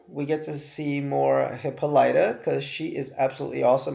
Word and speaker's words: Hippolyta: But it's Hippolyta.